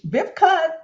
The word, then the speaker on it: Wiebke: Wiebke, that's a German name, right?